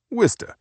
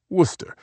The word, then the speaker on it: Worcester: She pronounced it Worista instead of Worcester like everyone else in New England, marking her as someone who'd grown up there.